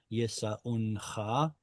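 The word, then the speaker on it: ישאונך: But yeah, the pronunciation is going to simply be silent. Yisa'uncha.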